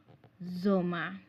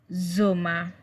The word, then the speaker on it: Sommer: So summer, the summer season in German language is called Sommer. Remember, the S sound is always pronounced as Z, just like English in English.